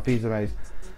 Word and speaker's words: Fils-Aimé: I always say his last name wrong. Fils-Aimé.